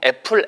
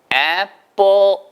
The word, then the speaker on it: apple: 줘 사과는 뭐라고 합니까 보통 애플 애플 하잖아요 근데 애플로 들리지 않아요 100% 를 게 들리지 않습니다 그 원어민 중에서는 이걸 애플이 라고 발음하는 사람은 거의 없어요 그러니까 사전을 찾아 보셔도 원어민 발음 100% 뭐라고 나냐 면 따라하세요 앱 5 앱 뽀 5천 나요 아시겠죠 그